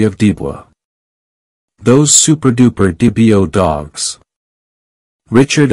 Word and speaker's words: Dibo: And those who study the pedigrees of their dogs take increasing delight at each appearance of the name DeBoer, pronounced Dibio.